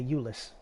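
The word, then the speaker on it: Jullus: I thought it was Julius. Okay, Euless. The J is silent.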